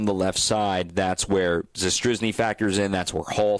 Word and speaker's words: Zastryzny: And you're going to see I never pronounce it. What do you? Zastryzny.